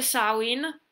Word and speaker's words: Samhain: nel vecchio mondo dove samhain si pronuncia così non celtico dl a